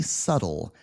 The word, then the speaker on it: subtle: along here subtle yeah it looks like you would say subtle right but that's a silent B subtle subtle subtle it kind of sounds like this SLE subtle with a d right what does that